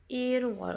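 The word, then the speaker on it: 일월: Kalau bulan 1 menjadi iwol, satuan bulannya wol menjadi irwol gitu ya.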